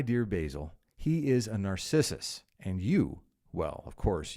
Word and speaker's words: Narcissus: go back a second, because Narcissus, that amazingly vain, self-interested figure in Greek mythology, deserves proper pronunciation. I'll go again. Why, my dear Basil, he is a narcissist. I keep wanting, you know what it is? I keep wanting to say he's a narcissist.